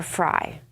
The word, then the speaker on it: Frey: Or Fry. That's the question. It is fry. It's fry. It's like I know this because you know I eat enough. It's spelled like Frey.